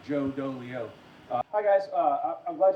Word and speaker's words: Dolio: DeLeo from tactical wisdom Julio it's dolio dang it it's just like it's spelled my parents they don't like me that's why they made my name rhyme Joe dolio hi guys uh I'm